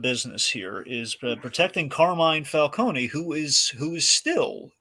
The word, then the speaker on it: Falcone: sorry we have three Falcons ladies and Gentlemen let's get out the flow chart okay and that one's John dumb but he is pronounced Falcone and not falcon anyway so uh no